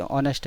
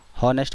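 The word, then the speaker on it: honest: जैसे ऑनेस्ट है, इसको कई लोग हॉनेस्ट बोलते हैं, तो वो सोचते हैं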